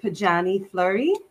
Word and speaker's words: Pojanee Fleury: Well, I pronounce it Pojanee Fleury. Pojanee, my mom pronounces it a little bit differently, but it's a whole story.